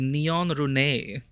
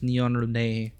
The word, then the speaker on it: Neon Rune: I must pause this and give a proper shout out to Neon Rune or Neon Run, but the proper pronunciation is Neon Rune.